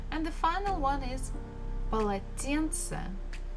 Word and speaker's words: полотенце: And the final one is полотенце, полотенце, a towel. So again, the first two syllables, pa, la, they are not stressed. Тен is stressed and ce is not stressed.